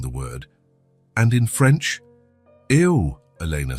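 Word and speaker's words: eau: Ew, Elena said. It looks strange, doesn't it? It's spelled E-A-U, but pronounced O.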